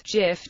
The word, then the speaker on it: GIF: The creators of the format pronounced GIF as GHIF, with a soft GHIF, as in gin.